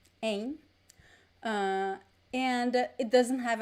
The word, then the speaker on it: em: if there were two aim it is a nasal sound there is no m and no n sound it's just a nasal sound so this opposition is